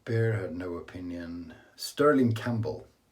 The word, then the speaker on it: Campbell: Sterling Campbell, P is silent.